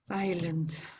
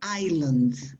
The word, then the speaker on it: island: when we talk about island easter island the s is not pronounced if you pronounce the